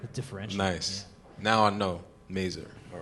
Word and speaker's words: Mazur: so when it first opened I was definitely pronouncing a Missour same cuz it just sounded like extra fancy oh okay differential nice now I know merer all right uh favorite tacos in town which